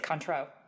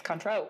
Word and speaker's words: Cointreau: liqueur we're using Renee's taught me how to pronounce this recently it's Cointreau oh yeah I would have I stayed far away I've been pronouncing it wrong for years apparently it's Cointreau I stayed I don't know if that's enough